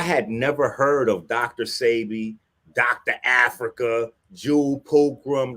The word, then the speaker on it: Sebi: Sarabi, I want to say, am I saying it right? Sebi, Dr.